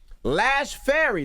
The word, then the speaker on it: Lash Fary: We got a special guest in the building, Lash Fary.